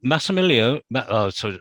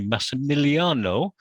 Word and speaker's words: Massimiliano: come up yep um massimilia i knew i'd say your name wrongly massimiliano i think some of your comments